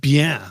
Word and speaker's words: Bien: It's spelled like bien.